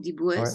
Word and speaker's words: Dibouës: Un homme ce soir, il s'appelle Franck Dibouès. On dit comme ça, Franck Ouais, Dibouès. Andy Dibouès, ouais, tout à fait. Ça s'écrit Diboues-S.